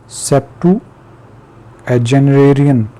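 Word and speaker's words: septuagenarian: इसके बाद है जी सेप्टेजिनेरियन 70 साल शख्स, सेप्टू एजेनरेरियन ये एक नया वर्ड है और मैंने इसको रीड भी नहीं पहले किया. सेप्टू एजेनरेरियन, सेप्टू एजेनरेरियन ये इस तरीके से प्रोनाउंस किया जाएगा.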